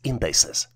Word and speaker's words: indices: The plural version for indexes is spelled as INDICES and is pronounced as indices.